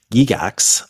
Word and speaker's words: Gygax: I'm Kevin and today we are joined by Gigax.